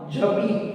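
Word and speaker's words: j'habite: how you are going to pronounce now? Jabit.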